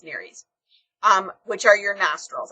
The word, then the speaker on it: nares: the word nares okay I've heard it pronounced Neary's I think I'm wrong I think it's Nerys um which are your